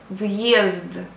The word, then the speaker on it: въезд: We don't pronounce a hard sign. It just shows the way of pronunciation of the word. Example. Въезд, въезд.